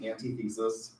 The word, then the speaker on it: antithesis: you'll get an antithesis, which I had a high school teacher tell me was pronounced antithesis. That's what it looks like, but it's pronounced, the correct pronunciation of the word is antithesis. That's part of my Oklahoma to English dictionary, antithesis. It's really in normal speak, antithesis.